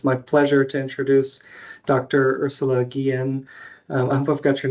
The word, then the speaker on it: Ursula Guillen: Ursula Gillian. I hope I've got your name pronounced correctly there.